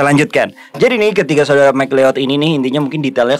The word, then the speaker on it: McLeod: tentang perjalanan dari tiga bersaudara mcleod Widya berdaya bacanya mcleod Ya next betul-betul karena nih tiga bersaudara mcleod